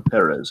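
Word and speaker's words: Pérez: Marv Wolfman and George Perez or Peres however some people pronounce it different I like Perez but your parents whatever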